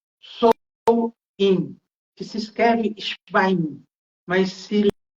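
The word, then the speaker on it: Samhain: dois três dias em que eles celebravam o sou in que se escreve mas se s o que que era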